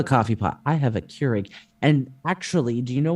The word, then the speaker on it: Keurig: up I have a Craig and it's got you have a Craig however the hell you pronounce it is that like the equate compare with Keurig how do you pronounce it Keurig Keurig okay fine I've got